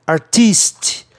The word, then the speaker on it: artiste: Para soar o grande artista, artiste. Aí tem que ter um E no fim, tá?